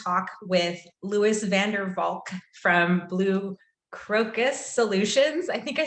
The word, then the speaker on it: Crocus: Today, we're going to talk with Lewis Vandervalk from Crocus Solutions. I think I said it right. Is it Crocus?